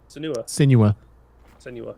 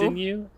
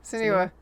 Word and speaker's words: Senua: Okay, how do you say the name? Senua. Every time I say it, I'm wrong. So Sinew? Yeah, Senua.